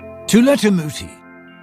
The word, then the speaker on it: Tula Tamuti: Tula Tamuti rhymes with tool in the booty, he tells people, cut